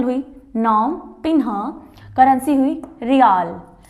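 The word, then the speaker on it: Riel: तो कंबोडिया की जो कैपिटल हुई नोम पिन्हा, करेंसी हुई रियाल। वैसे वर्ड आ रहा अपना इंग्लिश का रियल, बट करेंसी के अंदर इसका नाम रियाल दिया गया, ठीक है।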